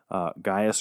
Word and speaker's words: Gaius: because of the differences, you could really say it either way. So we'll probably go back and forth between Gaius and Titius and Gaius and Titius, and that's the only 2 pronunciations we'll use.